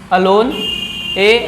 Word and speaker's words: alone: दूसरा है अलोन, ALONE, अलोन। इसको अलोन प्रोनाउंस करते हैं, एलोन नहीं। ठीक है, एलोन गलत है, अलोन। इसकी हिंदी मीनिंग अकेला या अकेली।